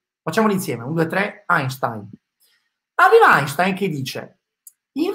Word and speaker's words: Einstein: come einstein non sta nessuno nessuno e si pronuncia einstein facciamo insieme un due tre einstein aveva einstein che dice in realtà voi non